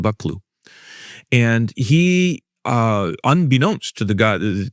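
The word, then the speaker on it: Buccleuch: Actually, it's pronounced Buckloo.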